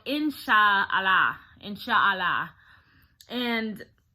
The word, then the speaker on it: inshallah: was a word that they say is called insha allah in sha allah and it's spelled like i n s h a a